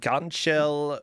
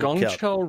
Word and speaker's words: Gangcheol: Gangcheol Robocop. Gangcheol Robocop, yeah.